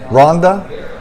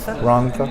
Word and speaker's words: Rhondda: Double D is pronounced. Rhondda.